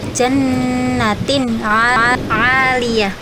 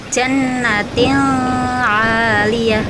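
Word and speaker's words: جَنَّةٍ عَالِيَةٍ: misal jannatin nakal ya cara bacanya jannatin Aliyah tidak boleh dibaca jannatil Aliyah itu tidak boleh jadi ini itu special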